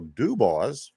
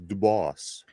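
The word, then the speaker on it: Dubas: back to you yesterday I want to apologize if I mispronounced the gentleman's name Kyle dubos apparently yesterday I was calling him dubus but you know what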